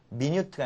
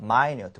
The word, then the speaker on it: minute: minute라고 읽으셔야 되는데 이게 minute가 아니라 minute. 뭐라고요?